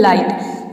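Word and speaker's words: light: एच टी हो तो आई को हम आई प्रोनाउंस करते हैं फॉर एग्जांपल लाइट लाइट में आप देख रहे हैं कि आई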